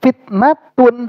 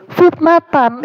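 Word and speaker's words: فتنة: Nah dalam perkataan ini kalau dia dibaca illa Kana liba'dihim fitnatun ini enggak bakal ada musasna minhunya Makanya dibacanya pasti fitnatan itu jadi apa Jadi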